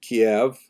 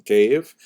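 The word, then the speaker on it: Kyiv: omelian pritzak opined that Kiev cave as it's pronounced today in the Ukrainian pronunciation cave was actually founded by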